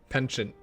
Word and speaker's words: penchant: Penchant.